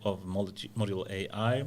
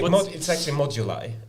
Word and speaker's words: Modulai: So that's the origins of Module AI. Is that the proper pronunciation? So it's actually Modulai. Modulai.